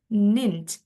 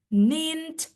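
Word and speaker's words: ninth: N kan gini awalnya tapi kita E-nya hapus kasih th langsung bacanya ninch begitu. Oke. Kayak ada T-nya gitu bacanya. Nint six, sevens, dan lain-lain gitu.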